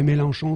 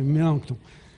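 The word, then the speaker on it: Melanchthon: S'il vous plaît, quand vous le prononcez, n'oubliez jamais de mettre le thon bizarre. Ouais. Mélenchon, c'est pas trop ce qu'on veut. Non, c'est Mélancton hein.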